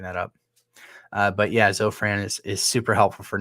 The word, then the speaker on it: Zofran: is an F Zofran maybe not but yeah Zofran is how it's pronounced and uh yeah I remember my wife